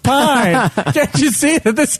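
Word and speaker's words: Paine: A new mysterious girl named Pain, pronounced Pine.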